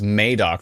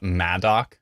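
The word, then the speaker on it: Madoc: be great oh and this is this is Mok right not madok cuz it it's spelled madok there's the word and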